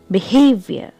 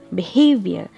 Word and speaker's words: behavior: the first syllable behavior here the stress is on the second syllable behavior if I pronounced like